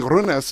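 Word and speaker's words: Rynnäs: guys standing there, Runas, like we're rolling the R's like it's roll up the rim to win time or something. So anyways, we got it, and that's how Jussi Runas is the proper way to say his name.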